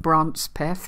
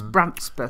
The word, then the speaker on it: Brampton: to pronounce it wrong I think it's brandsmith I think in our in our Southern way we called it bronze path for a while and it's Brampton and it's only uh